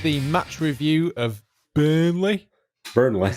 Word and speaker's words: Burnley: podcast this is the match review of burnley burnley that's how you say it burnley burnley burnley